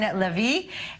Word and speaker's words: Lavie: Singer Oren Lavie is committing bedroom crimes with a troupe of dancers led by choreographer Maya Brenner.